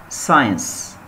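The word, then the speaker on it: science: قالك لا، هنا السي حرف صامت عشان قبليه حرف الاس، الاس والسي، هنا السي حرف صامت فبالتالي مش تنطبق عليها هذه القاعدة.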